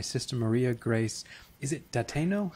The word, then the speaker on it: Dateno: Is it Dateno? How do you Oh, pronounce it, we say Sister? it Dateno.